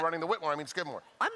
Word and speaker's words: Skidmore: Race number 7 off the turf, the Skidmore. And obviously, you know, in some ways, obviously, turf race you want to see. Rhymes with Whitmore. Isn't that a perfect transition?